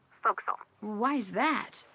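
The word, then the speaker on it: forecastle: ship but it's pronounced fil why is that try pronouncing it like an English sailor with no formal education faux Castle fil over time it whittel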